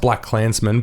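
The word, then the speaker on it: BlacKkKlansman: just black Klansmen it's it's pronounced black Klansmen but it's like intentionally KKK in the middle that I say that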